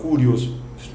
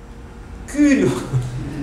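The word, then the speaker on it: κύριος: O U não se fala Curios. O U você tem que falar Kyrios.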